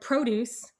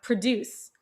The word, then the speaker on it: produce: We even have some words that are pronounced and spelled maybe identically or nearly identically, but the accent changes the meaning. So we have the word produce, fruit, and we have produce, the verb to create something.